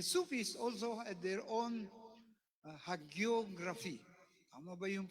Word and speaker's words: hagiography: Because the Sufis also had their own hagiography. Tama ba yung pronunciation ko?